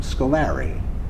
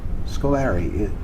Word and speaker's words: Scolari: sort of neighborhood quick pronunciation of Scoleri or school or REM Scolari Scoleri is how most of my relatives my cousins first cousins and aunts and uncles all pronounce it that way so so I adopted that scolari it is I think